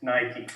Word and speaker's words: Nike: They're the #1 sports and fitness brand in the world, and that is Nike. Nike! Eh sì, la E si legge I.